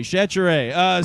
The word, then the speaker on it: Chachere: Rhymes with Tanqueray, Chachere.